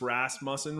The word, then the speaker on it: Rasmussen: way it is I didn't know how to pronounce it either until I started working here but it's Ras musen reports uh so now we know now the